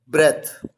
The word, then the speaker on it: breath: ए टी एच ई पहला word ब्रेथ किस तरह से प्रोनाउंस किया जाएगा ब्रेथ और दूसरा वर्ड किस तरह से प्रोनाउंस करेंगे आप ब्रीद पहला वर्ड है नाउन